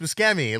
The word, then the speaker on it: Buscemi: And then he's like, it's pronounced Buscemi.